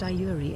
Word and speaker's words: Yuri: I walked you also my name is pronounced URI in case you forgot